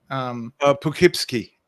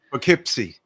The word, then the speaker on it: Poughkeepsie: Also seen ABWH in, how do you pronounce that city? Poughkeepsie. Okay. Poughkeepsie.